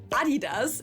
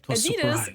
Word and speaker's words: Adidas: I'm talking about Adidas as we say in German or Adidas as Americans say.